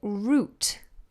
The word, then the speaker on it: route: route like ow route but we say route exactly the same as the other spelling which is route like that the root of a tree for example route so via route our British English pronunciation z' alright my darlings